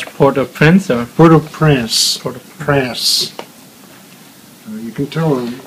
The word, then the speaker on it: Port-au-Prince: How they pronounce Port-au-Prince or? Port-au-Prince.